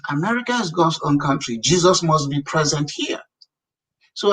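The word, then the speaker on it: Jesús: So I come to America, I landed at the airport, I see a Hispanic guy whose name is spelled Jusu, which Hispanic people will say Jesus.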